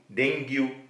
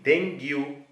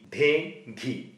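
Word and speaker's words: dengue: ಬಗ್ಗೆ ನಾವು ಸ್ವಲ್ಪ ತಿಳಿದುಕೊಳ್ಳೋಣ ಇಂಗ್ಲಿಷ್ನಲ್ಲಿ ಡಿ ಈ ಎನ್ ಜಿ ಯು ಡೆಂಗ್ಯು ಪದವನ್ನು ಇಲ್ಲಿರುವ ಅಕ್ಷರಗಳಲ್ಲಿ ಅನುಗುಣವಾಗಿ ಡೆಂಗ್ಯು ಅಂತ ನಾವು ಉಚ್ಚರಿಸುತ್ತೇವೆ ಆದರೆ ವೈದ್ಯಕೀಯ ವಿಜ್ಞಾನದಂತೆ ಈ ಪದದ ಸರಿಯಾದ ಉಚ್ಚಾರ ಡೆಂಗಿ ಡೇ ಘೀ ಸರಿ ಮಲೇರಿಯಾ ವ್ಯಾಧಿಯಂತೆ ಇರುವ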